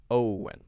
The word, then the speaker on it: Owen: So it's actually a two-syllable word. Owen, okay?